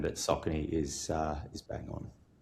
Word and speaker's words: Saucony: It's pronounced Sakin, right, Gus?